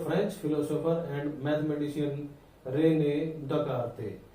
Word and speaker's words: Descartes: तो देखिए this study was initially developed by the French philosopher and mathematician Renee दकार्ते। यहाँ S silent है student.